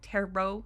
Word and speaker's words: tarot: that these tarot cards I think that's how you say it tarot even though it's spelled like teret anyways I'm sure you